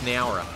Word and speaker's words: Nowra: Yeah, we're Aussie, so it's Nowra.